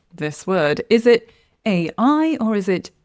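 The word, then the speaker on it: AI: We pronounce the letters separately. It's not like all together. So, the correct pronunciation is A I and the incorrect way would be saying E A.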